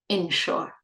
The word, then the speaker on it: ensure: first one is spelled with an I, they're pronounced the same way. E, E, short E. insure, insure.